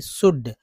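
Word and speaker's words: should: तो रहा ही शुड, शुड में जो एल जो है, ये एल जो है इसको साइलेंट रखा जाता है, नहीं पढ़ा जाता है, तभी शुड पढ़ते, नहीं तो शुल्ड पढ़ते, शुल्ड, तो क्या है शुड, यानी एल साइलेंट है।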